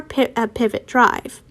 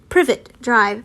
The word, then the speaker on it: Privet Drive: front of number four pivot drive privet drive sorry i keep on saying it wrong but i want to